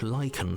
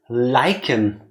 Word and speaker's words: lichen: the stonework, can watch lichen spread along the seams of the walls. Oh my god! Thank you, slave princess, the Pristine Cut. It's pronounced lichen. I always thought it's lichen.